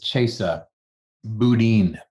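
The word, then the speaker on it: Chesa Boudin: it to spencer's question it really is chaser boudin chaser boudin wow proper pronunciation of the name of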